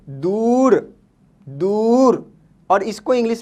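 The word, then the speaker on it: دور: ठीक है, अगर लफ्ज़ के बीच में ऊ साउंड आता है तो इसका यूज ये होगा दाल वाव, दू और रे, दूर, दूर, और इसको इंग्लिश में हम कहते हैं अवे।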